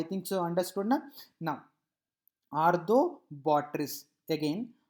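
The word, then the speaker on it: Arthrobotrys: Now arthobotrytis, again arthobotrytis, arthobotrytis. Okay. Now dactylella, again dactylella, dactylella. I think so I pronounced it, I think you understood my the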